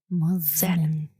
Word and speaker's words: Mosman: It's spelled with an S, but almost like a Z or a Z. Mosman.